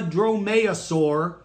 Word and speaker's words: dromaeosaurus: o s au r us to be a dromaeosaurus if you don't have the killing claw you